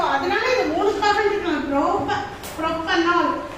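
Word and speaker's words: propanal: இது எப்படி ப்ரொனவுன்ஸ் பண்ணனும்னா ப்ரோபனல்.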